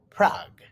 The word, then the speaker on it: Prague: The capital of the Czech Republic is Prague, pronounced Prague.